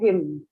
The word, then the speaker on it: hymn: the songs that they sing are called hymns. Okay. So the N is silent and it's called a Okay. hymn.